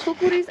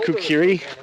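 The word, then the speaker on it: khukuri: We have nothing but kukuris which is our uh national weapon. Kukuris. Yeah. We don't have Tell me more about the kuris. What is this? Kukuris.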